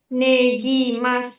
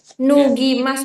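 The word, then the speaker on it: 脱ぎます: Yang ini bacanya nu ya. Iya sensei. Nugimas. Oke. Bukan ne. Nu. Kalau ne hiragananya beda lagi. Ini hiragana nu.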